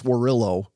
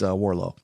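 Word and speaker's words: Warrillow: So, and it looks like John Warrillo, almost like, Norfolk. You don't pronounce it Norfolk. You don't pronounce Warrillo. It's Warlow.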